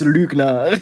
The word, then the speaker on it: Lügner: It is Lügner.